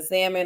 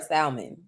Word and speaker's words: salmon: I need to know if you pronouncing salmon or salmon okay make read that messed that up all day be throwing hell in there like get the hell out of there oh if you can read the L is silent read it your name